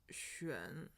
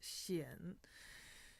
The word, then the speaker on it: 癣: So the dictionary tells us that this character is pronounced xuan. However, everyone that I've met and spoken to who has used this word pronounces it xian.